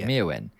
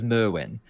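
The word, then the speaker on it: Myrwn: And I said, "Mewin." He's like, "Okay, cuz Draco says Merwin." And I'm like, "No, he doesn't." And he's like, "Brother, I'm telling you, he says mwin."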